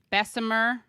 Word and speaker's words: Bessemer: guests to talk about what is happening in Bessemer, Alabama. Did I say it right? It is Bessemer, right?